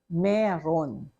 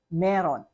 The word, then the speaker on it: mayroon: So in conversation, even if we spell it as M-A-Y-R-O-O-N, we pronounce it as meron. Okay? For you to be understood, you have to pronounce it as meron.